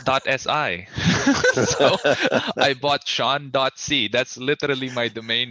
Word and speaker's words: Sean: way to reach you my name is spelled s-e-a-n sean and then my surname